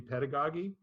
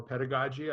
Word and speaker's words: pedagogy: a similar word would be pedagogy or pedagogy I don't know where who you listen to when you heard the word the first time I understand both of them are correct pronunciations uh so the point